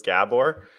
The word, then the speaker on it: Gabor: to say your name properly I think it's pronounced Gabor technically I tell English people in these Gabor